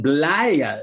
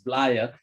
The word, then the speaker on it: Blaye: the times of the romans right and then blaire is how you pronounce this blaire and i know uh liz likes to talk a little bit about blaia as well and all and this is a